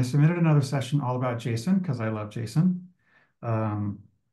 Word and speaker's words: JSON: there is a a an argument about what the correc pronunciation is no there's not you are pronouncing it correctly although I have Json ingrained in my brain and I just can't stop doing it so well the guy who invented it he calls it Jason Jason because it was actually